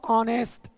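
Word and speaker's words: honest: उच्चारण इसको पढ़ा होगा ऑनेस्ट ऑनेस्ट ववर नरे बल ऑनेस्ट आवर नरे बल मतलब एच को हम यहां पे साइलेंट कर देते हैं एच को हम प्रोनंसिएशन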